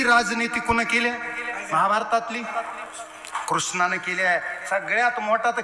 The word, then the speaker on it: कृष्ण: कळेल का एका जन्मात कृष्ण कळणं अवघड आहे राम कळणं सोपं आहे कृष्ण नावच उच्चारण अवघड आहे अर्ध्यायला कृष्ण कृष्ण कृष्णा कृष्णा येतच नाही म्हणायला जिभीला आडा पडते कशामुळे ते देवच अवघड